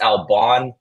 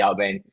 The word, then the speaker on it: Albane: It's not Albane, it's Alban, even though it sounds like it should be Albane.